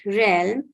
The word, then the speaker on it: realm: l m okay but in the word realm it has a different sound because the vowel sound is an e sound which is pronounced with